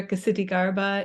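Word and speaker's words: Ksitigarbha: This one in particular, Kasiti Garba, is one that people often get tangled up on. The H is silent, which helps, so it's not an SH sound.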